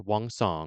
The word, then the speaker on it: Wang: Wang Kong. Not gonna sing the song this time. And her name is actually pronounced Wong, so that's my bad.